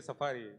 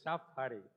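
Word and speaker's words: Shaphari: So many times I just say Safari, but it is Shafari.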